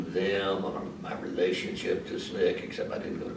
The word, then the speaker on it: SNCC: close connection with SNCC, Student Nonviolent Coordinating Committee, SNCC, pronounced as I did.